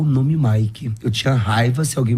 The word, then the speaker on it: Mick: Só que, como meu nome se escreve Mick, se lê Mike, né?